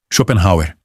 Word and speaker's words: Schopenhauer: Schopenhauer, 4 sílabas, tônica na primeira.